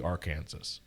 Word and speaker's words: Arkansas: and arkansas hate that it should be arkansas arkansas yeah that's how it's spelled it's kansas with ar at the front of it but you